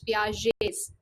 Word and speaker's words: Piaget: Jean basically pronounced as Jean and the second name is pronounced as Piaget's. So collectively it is Jean Piaget's theory of cognitive development.